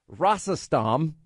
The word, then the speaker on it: Rosatom: Russian nuclear giant that's called Rosatom, is I think the way you pronounce it, giving Moscow control of more than 20% of America's uranium supply.